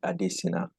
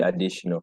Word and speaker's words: Adesina: looks right for example you can see my name looking like adesina but it's actually additional and it starts from